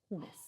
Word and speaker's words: hummus: And yeah, I say hummus, but it's not hummus. It's more like hummus. But But anyway, that's because that's exactly- how Daniel says it.